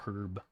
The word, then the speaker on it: Herb: If you met a guy called Herb, would you pronounce it with a hard H or herb? Herb, hard H, because I'm assuming it's short for Herbert, not Herbert.